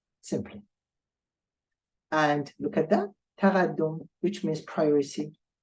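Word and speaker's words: تقدّم: In fact, what we do here, we are pronouncing twice D, twice L, and twice S. But we write just one of them.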